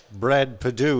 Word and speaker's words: Perdue: It might be Brad Perdue. Is it the correct pronunciation? Yep.